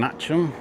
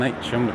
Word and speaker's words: Atcham: I'm back here in Atcham, and it is definitely pronounced Atcham rather than Atcham because the taxi driver that brought me here today was a bit confused when I asked if he could take me to Atcham. So yeah, it is Atcham.